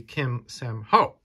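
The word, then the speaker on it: Kim Sanho: covers the horror covers by none other than sanho Kim actually it's pronounced it's read from uh right to left uh so it would be Kim Sam Ho and uh he is a Korean artist born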